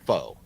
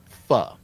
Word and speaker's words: pho: Uh, but anyways, so I just wonder if anybody watching knows what fu is. And so fu is spelled pho. Looks like fo, but it's pronounced fu.